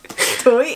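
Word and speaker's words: Tôi: Toy.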